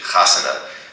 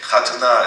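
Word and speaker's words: חתונה: To a Yiddish speaker, you pronounce it the Hebrew way, it doesn't sound like it's so much fun, a chatuna, but a chasana, oh, that's fun.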